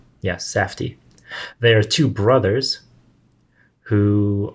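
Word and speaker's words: Safdie: josh and benny sadfi safti safty that's what's pronounced yes safti there are two brothers who are directors and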